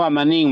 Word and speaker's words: amanin: timo, timoitasque, timoitasque, amanin, chicuey, ¿Amin o Amanin, maestro? amanin, amanin, Ok.